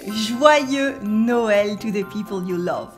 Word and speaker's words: Noël: The two dots on le E is called le tréma, le tréma. So it means that the O and the E are pronounced separately. We say Noël, Noël.